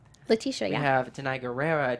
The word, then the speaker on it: Letitia: Letitia, We yeah.